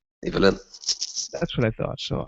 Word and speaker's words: Ivelin: Tell me, is it Evelyn or Ivelin? Evelyn.